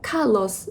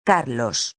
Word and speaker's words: Carlos: I know it's a little bit tricky, but deep inside your mind, you already know Carlos was actually Carlos.